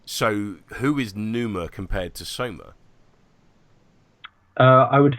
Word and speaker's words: Pneuma: the transformative nature of Soma into, is it Pneuma? Is that how Pneuma. it's pronounced?